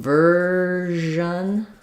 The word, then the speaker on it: version: In version, it's the zh sound.